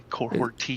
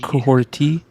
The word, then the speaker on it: Kahhori: I think, it's Kahhori. Kahhori. Yeah, there's no T in the spelling, but there's a T in the pronunciation.